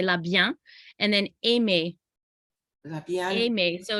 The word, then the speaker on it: La Bien: actually pronounce the n the n is kind of silent and it goes into a real nasally so you say la bian and then aime is